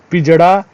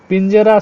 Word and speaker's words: पिंजरा: पहला वाला गलत है पिंजड़ा पिंजड़ा या पिंजरा या पिंजरा पिंजरा शुद्ध शब्द होता है ड़ नहीं ठीक है पिंजरा शुद्ध